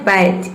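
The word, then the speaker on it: batch: जैसे कि देखिए यहाँ पे एग्जांपल है बैच, इसमें टी जो है वह साइलेंट है, टी के बाद क्या आया है, सी एच।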